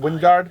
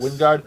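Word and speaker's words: Wijngaard: Is that how you pronounce his name? Wingard? I guess. Wingard. I don't know. You know who loves this guy? The J is silent apparently.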